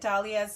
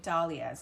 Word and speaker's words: Dahlias: Dahlias, not Dahlias. I say Dahlias because it's D-A-H. And in my name, there's a Z-A-H, and So I'm just assuming that it's Dahlia.